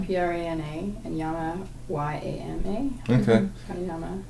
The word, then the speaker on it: Pranayama: How do you spell that? Prana, Prana, and Yama, Yama. Okay. Pranayama.